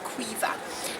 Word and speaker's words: Caoimhe: It's an Irish name, you spell it Caoimhe, but it's pronounced Caoimhe, and so this MH makes a V sound in the Irish alphabet.